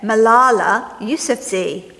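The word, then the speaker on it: Malala Yousafzai: here and this is her name and you pronounce it Malala YF Z Now malala's birthday is coming up and she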